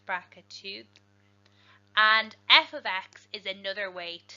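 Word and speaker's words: f(x): use function notation is this here this is pronounced f of X is equal to 2x plus 1 f is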